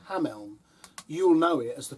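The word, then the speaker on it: Hameln: in a town called ham Elm you'll know it as the Pied Piper town of Hamlin well in Germany it's pronounced differently it's a lovely place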